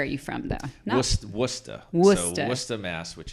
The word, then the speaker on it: Worcester: Worcester. Worcester. So Worcester, Mass, which is in central Massachusetts. It's spelled Worcester. Worcester. Pronounced Worcester, not Worcester, Yeah. not Worcester.